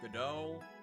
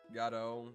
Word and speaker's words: Godot: Godot? Godot? Von Karma looks like he's decaying. Yeah. Godot is what I say.